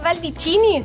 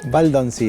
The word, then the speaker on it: Baldoncini: Baldicini, ¿lo pronuncié bien? Baldoncini. Baldicini, ahí está, casi.